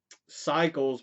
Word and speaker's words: Psycles: This one is entitled Cycles, but it's spelled Psycles.